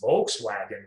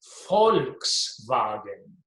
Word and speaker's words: Volkswagen: volkswagen she said robert you don't pronounce volkswagen volkswagen it's folk's wagon that's how they say it in germany folks everybody say it